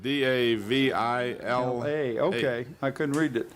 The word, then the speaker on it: Davila: Well, it's spelled D-A-V-I-L-A.